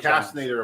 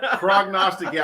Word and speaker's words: prognosticator: We may have a Didn't run the procrastinator amongst us. And for those of you that don't understand what Hold on. Big word of the day. prognosticator, I mispronounced it and screwed it up.